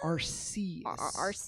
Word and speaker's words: Arceus: It's Arceus. Arceus. I looked it up. I looked up like how an to RC pronounce. car. Yes. RC car.